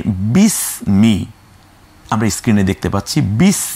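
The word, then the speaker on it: بسم: বকে রশ্মিকার স, ময় রশ্মিকার মি, এই যে বিস মি আমরা স্ক্রিনে দেখতে পাচ্ছি, বিস মি, এখানে আমরা বি স মিও বলছি না, অর্থাৎ এককেরও এককে নিয়ে আসলাম, অর্থাৎ বি স মি এটা বলছি না, আমরা বলছি বিস মি, এই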